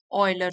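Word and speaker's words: Euler: इन the class of Gauss and ऑयलर। तो इनको pronounce करेंगे गाउस एंड ऑयलर।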